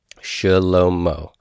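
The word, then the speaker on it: שלמה: Shlomo. It is such a reduced sound that sometimes in modern Hebrew, a word like shlomo would be pronounced shlomo, like slow motion, shlomo.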